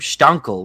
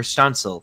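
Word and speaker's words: Štancl: like Juraj Pekarczyk, or I know Jakub Stankel. We finally got a pronunciation on, or Stancil, sorry, pronunciation on his name.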